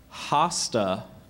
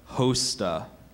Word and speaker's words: hosta: is l u Au hasta um we have the language of origin this word is from an Austrian name that went into Latin hasta are there any other pronunciations I also have hosta hasta hosta may I